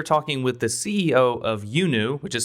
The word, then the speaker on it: iUNU: today we are talking with the CEO of yunu which is spelled iuu and the CEO of that is